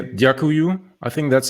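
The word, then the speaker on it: Dziękuję: And I should actually say Djakuju.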